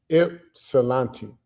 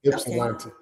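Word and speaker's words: Ypsilanti: I I want to I want to tell y'all how to how to pronounce Ipsilante. There you go. Ipsilante Township, Michigan. That's how you pronounce it. Ipsilante. Ipsilante. That's one of them crazy towns that start with a Y something.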